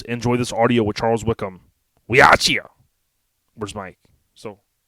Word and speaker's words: Wickman: but it's Charles Wickman technically right it's it's pronounced Wickham there are there are a couple individuals uh that will basically disagree with you and uh and save my last name is pronounce Wickman but uh yeah it's it's kind of an